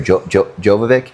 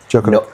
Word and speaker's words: Djokovic: Can you tell that story of, and excuse me if I get his name wrong, the tennis player, Jovovic? Novak Djokovic.